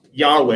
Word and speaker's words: Yahweh: identified with the most sacred name which is Yahweh. And there was a time when the sacred name for the Israelite God Yahweh was mispronounced as Jehovah. But scholars today believe that the word is actually pronounced Yahweh.